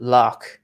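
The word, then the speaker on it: Lough: word lake in ireland the names of lakes are prefixed with lock spelled the way i spell my surname and it's pronounced lock so lock re lock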